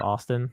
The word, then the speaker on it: ASTN: I wanted to be pronounced Austin.